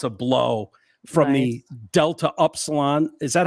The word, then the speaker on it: Upsilon: blow from the Delta Upsilon. Is that how you say that? Delta Upsilon, actually. Upsilon. Okay. Yeah, but it's Epsilon out in the streets. But if you're saying the Greek alphabet, it's Upsilon.